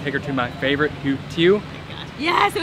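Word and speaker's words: tiếu: We're gonna take her to my favorite, Tieu. Yes, Tieu.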